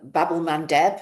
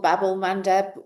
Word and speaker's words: Bab-el-Mandeb: got the uh the Strait of um um Bab-el-Mandeb, I think it's pronounced. Babel Bab-el-Mandeb, um which is the critical route to get to the Suez Canal.